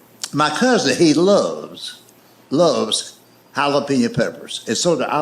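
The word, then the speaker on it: jalapeño: love hot peppers, but he calls it jalapeno pepper. He'll say to a waitress, "Do y'all have jalapeno?" You mean jalapeno? No. Damn it. Jalapeno. Let's wait. He he he will he will point to that jar of pepper. He said, "See right there, that's a J. That's jalapenñ." And I made the mistake of trying to explain that to him. I said, "I know it's a J, but it's pronounced with a H.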